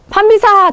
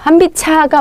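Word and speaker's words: 한빛아: 어 어떻게 하셔야 될까요 한빛 한비사 또 사 이러시면 안 돼요 예 여기 앞에 있는 받침을 고대로 제 음가대로 옮겨서 어떻게 하셔야 돼요 발음 하셔야 돼요 한비 차가 맞습니다 예 한 비차 이렇게 바음 하셔야 돼요 그래서 주의하시라고 다시 한번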